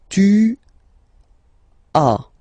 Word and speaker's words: as: Second one, tu as, okay. As usual in French, final s is not pronounced. Tu as, tu as, okay.